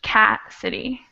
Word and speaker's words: Cassidy: and then of course cassidy would be accent on the first syllable butch cat city all right what about